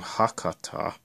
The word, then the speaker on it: Hakata: says hikari going to oh that's how you pronounce that name hakata the second car also has unreserved seating let's